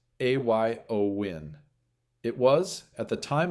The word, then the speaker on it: Éowyn: Aowin pronounced a yo win.